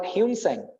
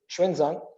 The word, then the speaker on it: Xuanzang: famous Chinese scholar Xuanzang, we call Hunsang, the wrong pronunciation, the correct is Xuanzang.